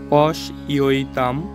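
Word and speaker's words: পশ্যতাম্: একটু উচ্চারণ গুলো দেখি প্রথম শব্দের উচ্চারণ হচ্ছে পশইতাম আমরা জানি অন্তর্জ থাকলে ইয় হয় এজন্য আমরা এখানে উচ্চারণ করব পশইতাম পান্ডু পুত্রানাম এখানে আবার আকার আছে বা আ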